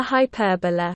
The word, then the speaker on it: hyperbola: Foci of a hyperbola. Foci of a hyperbola. Hyperbola. Remember this pronunciation, because you're gonna use it very much.